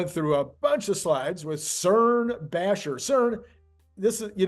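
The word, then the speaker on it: Søren: o r n but in Denmark saurin is pronounced more like CERN and they like this guy so much for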